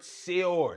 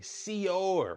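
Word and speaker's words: שְׂאוֹר: All right, so the debar of the day is the word seor. Say it with me, seor, right? That's how you pronounce the Hebrew word.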